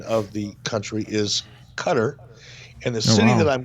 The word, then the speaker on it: Qatar: way and social media I've been I've been pronouncing the country of Qatar as Qatar like guitar kind of like yeah that's how